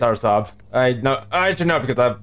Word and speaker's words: Araçoiaba: Like, I know most people would pronounce it as Araçoiaba, but that's not the right pronunciation. Anything, it's Araçoiaba.